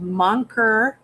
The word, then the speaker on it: Moncure: It's Scottish. It's pronounced Monker.